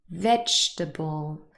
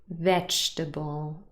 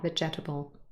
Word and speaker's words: vegetable: not really pronounced comfortable vegetable again the second e is not pronounced vegetable not vegetable and in the last